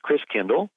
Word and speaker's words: Christkindl: And the German pronunciation of Christ child is Christkindl.